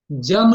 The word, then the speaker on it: यम: य को य बोलेंगे लेकिन जब किसी शब्द के आगे य रहता है तो उस य को ज बोला जाता है इसलिए हम जम नियम बोलेंगे अ गलत उच्चारण से